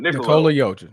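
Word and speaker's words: Nikola Jokić: Then also, when do the Joker Nick I can't even pronounce his name right. Nikola Jokic.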